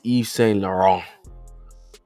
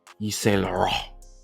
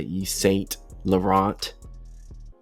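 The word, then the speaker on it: Yves Saint Laurent: You really don't even pronounce the T. It's E St. Lauron. E St. Lauron.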